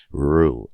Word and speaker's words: rue: Rue, le Rue. It rhymes with poo. It rhymes with doo-doo. So if you know how to say doo-doo, you know how to say Rue.